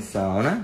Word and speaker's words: sauna: How do you say sauna in Finnish? Sauna. E chegamos aqui pra fazer uma sauninha. Gente, tem coisa mais finlandesa que uma sauna? Claro que não, né? Nossa, então tem sauna.